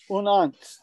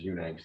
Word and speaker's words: Unangst: That's the German pronunciation. Yeah. So the American pronunciation, right, is Unangst. That's what I've been. Mm-hmm. But the name is Angst. Unangst. So the word Angst with yeah. Un preceding it.